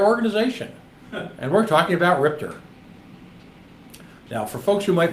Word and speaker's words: RIPTA: Spelled RIPTA, pronounced RIPTA.